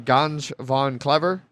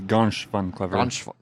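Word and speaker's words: Ganz schön clever: But we'll be covering Ganj von Clever. I think it's Gansh von Clever. Much better pronunciation. Figures the guy who speaks Dutch also can pronounce German words pretty A little closely.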